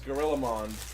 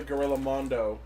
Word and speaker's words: GorillaMond: we got confirmation that the pronunciation of that form is Gorillamon. Yep. That's Gorillamon as opposed to Gorillamondo, which I personally like more, but I'll just call it Gorillamon for the sake of it.